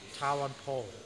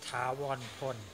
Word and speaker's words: Thavornpol: But in America, they pronounce Thawan Pho. In Thai, is Thawan Pon. You see the difference? Mm-hmm. Po and Pon. Mm-hmm. Because L in Thai is N like N.